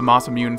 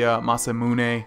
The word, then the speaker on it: Masamune: always pronounced it the masam mun someone mentioned that they thought that I mispronounced it and uh yeah it's just I've always pronounced it mamun but I guess it's the masamune or something like that but